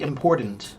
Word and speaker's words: important: If you inunciate, then the T is very clear.